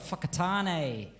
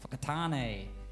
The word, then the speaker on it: Whakatane: I know that, is it WH that is pronounced f? Because you guys have got Whakatane, which is probably my favourite town name in the world. Whakatane.